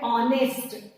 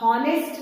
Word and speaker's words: honest: इसी तरह से यहाँ पे आप देखिए, ये स्पेलिंग है HONEST, जहाँ पे H साइलेंट है, और आपका जो उच्चार है वो होता है ऑनेस्ट। आप हॉनेस्ट नहीं पढ़ते हैं, आप पढ़ते हैं ऑनेस्ट।